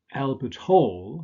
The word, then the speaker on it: Albert Hall: So the first combination is Albert Hall, stress on the second element.